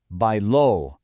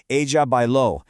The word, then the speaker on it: bailó: And the answer is bailó, with that all-important accent on the O, remember? Ella bailó.